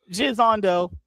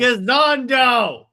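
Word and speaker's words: Gisondo: Jizando. All right. Is getting a comedic take with mockumentary series DC. Pronounced Gizando.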